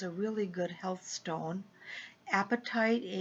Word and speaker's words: apatite: really good health stone apatite APA TI te which clears confusion I didn't want you to think of apatite as an eating because they're pronounced the same way and then one of